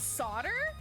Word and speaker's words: solder: Like I know the US English pronunciation is Wait, it's solder. Where the did the L go?